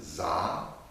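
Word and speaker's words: Dza: This one is Za, D-Z-A, Za.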